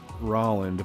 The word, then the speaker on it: Roland: was you know like his name was rolland but it's spelled roland because i don't think his family was like intelligent enough or schooled enough was put that way to know that that's how you actually said the name whatever roland so we